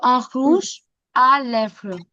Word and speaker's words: rouge à lèvres: र का साउंड ख ऐसे आता है. So un rouge à lèvres.